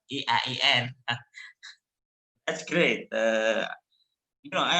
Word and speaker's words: IAIN: say eiem perfectly not iain so i i believe to harim uh reminded uh rachel many times about the pronunciation they are not i a i n but e i e n that's great you know